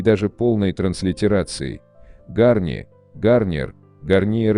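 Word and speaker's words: Garnier: Раньше марка Гарни озвучивала себя по-русски как Гарни, знак зарегистрирован в России с 1991 года, в традиции французских марок типа Перье или Курвуазье.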